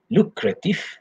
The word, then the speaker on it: lucrative: lucrative or lucrative okay lucrative so this word is an adjective okay if you can see the pronunciation lu there are three syllables lu creative lucrative okay so the definition